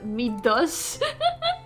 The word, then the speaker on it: Midas: It's actually pronounced Midas. Is it? Midas.